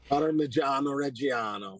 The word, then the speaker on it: Parmigiano Reggiano: Parmigiano Reggiano. I'll say it right eventually, maybe. Parmigiano Reggiano.